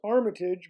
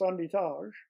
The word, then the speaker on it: Armitage: the others were Italian my name is Armitage but in Quebec it's pronounced andit and I work with